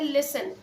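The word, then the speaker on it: listen: कब हमारे पास है लिसन व्हाट इसे आईटी मीन लिसन और फर्स्ट ऑफ जो यू हैव तू प्रोनाउंस आईटी क्लीयरली हमारे यहां पास यहां पर साइलेंट है लेसन कहेंगे और लेसन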